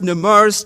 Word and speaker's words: Nemours: Please forgive me, it's pronounced Nemours Children's Hospital.